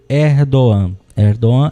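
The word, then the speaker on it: Erdoğan: antes de chillán banco e diretamente sobre o r do ano é dom é a pronúncia correta do nome do presidente da turquia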